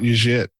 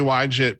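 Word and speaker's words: YJIT: except I accept it I'm literally just trying to pronounce the why in front of it why it's why pronounced why but then people are I'm scar what if when I say why jit people are thinking that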